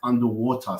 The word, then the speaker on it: UNDW3: They call it UNDW3, which is actually pronounced as underwater.